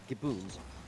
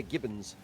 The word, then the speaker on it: Gaboons: Gaboons. I keep wanting to say Gibbons, but I know that's not how it's spelled.